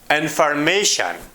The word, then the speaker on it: information: look at these examples information so this is a word which ends with shan tion the stress is on the second to last syllable syllable before the last information discussion beautiful